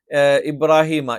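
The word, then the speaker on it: إِبْرَاهِيمَ: എന്ന് പറഞ്ഞു നിർത്താൻ പറ്റില്ല സ്ഹഫ ഇബ്രാഹീമൂസ സ്വഹഫി ഇബ്രാഹിമ ഇബ്രാഹിം എന്ന് പറയാൻ പറ്റില്ല ഇബ്രാഹീമ ഇബ്രാഹീമ മൂസ ഇവിടെ നിങ്ങൾക്ക് റ എന്ന്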